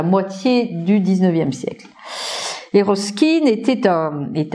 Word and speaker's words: Ruskin: Et plus particulièrement, un Anglais qui s'appelle Ruskin, ça s'écrit R-U-S-K-I-N, John Ruskin, qui est le théoricien de l'art social et de l'art nouveau comme art social.